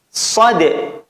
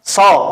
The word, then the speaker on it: Shad: Berikutnya shad. Maka shad juga sama, bukan so, bukan gitu bacanya, tapi harus dibaca seperti hurufnya dan dipanjangkan 3 alif. Shad.